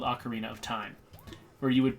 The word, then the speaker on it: ocarina: Yes, oh, an I can ocarina. finally... So that's how you say it. I always thought you said it like Orkana.